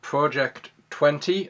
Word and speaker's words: Project XX: we are crying Glenfiddich project 20 or as it is on the label project xx is pronounced 20 as in Roman numerals it is the second